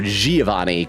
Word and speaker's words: Giovanni: Nora says G pronounced as J, so Giovanni.